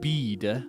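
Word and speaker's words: Bede: Uh, no, not Be, but Bead.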